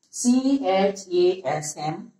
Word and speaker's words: chasm: C-H-A-S-M. Proper pronunciation in phonetics.